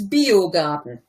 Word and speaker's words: Biogarten: That was actually pretty good, except it's Biogarten. Garten, sorry. That's an I and not an L.